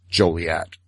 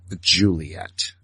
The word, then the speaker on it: Joliet: on their book that the proper pronunciation of Joliet is Joliet, not Juliet.